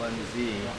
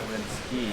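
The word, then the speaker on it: Linskey: No, not Lindsay. Linsky. L-I-N-S-K-E-Y spelled like whiskey with an E-Y.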